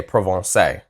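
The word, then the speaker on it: Provence: about to tour this I actually would have pronounced that correctly X on provance actually I was going to say provon but I'm glad I did axon provon but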